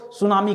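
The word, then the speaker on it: tsunami: सुनामी में देखिए T silent होता है, ठीक है, ध्यान दीजिएगा, ठीक है, टी सुनामी मत पढ़िएगा, सुनामी कहते हैं, ठीक है।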